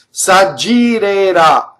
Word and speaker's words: s'aggirerà: So it's a DG, s'aggi, double G, right? S'aggirerà. So that's a future tense. And is a flipped R. Both of those R's are flipped. They're surrounded by vowels.